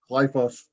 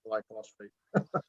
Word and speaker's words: glyphosate: by the way for reminding me that it's pronounced glyph glyphosate glyphosate and not glyphosphate uh Renee said I understand the apprehension of